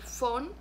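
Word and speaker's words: von: mujeres obviamente que el font bueno escrito gol pero la o la v en español hay en español en alemán se pronuncia efe por eso digo font ford x font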